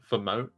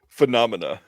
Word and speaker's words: Phenomena: You don't want to hear me try to pronounce Phemonia. Is that right? I feel like it's wrong. Phenomena. Phenomena. Ah, see, I wasn't even close.